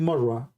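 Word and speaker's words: مرة: They say, it doesn't say Murrah, it means Marrah. Marrah, which means once here, and one quote from here, one quote.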